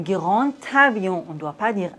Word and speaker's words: grand avion: Dans la liaison, le D se prononce T. Un grand avion.